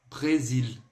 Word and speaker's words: Brésil: Nada de fazer a leitura desse Brasil aí com som do agudo do português. A dica é a seguinte. Quando você se deparar com qualquer palavra aí que tenha o E acento agudo, no francês, isso aí se remete ao E do você, ou seja, é um E com circunflexo. Então ele fica bem abertinho.